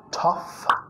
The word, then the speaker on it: tough: So you're a tough, tough. Nota T, a, sonido vocálico más sonido F.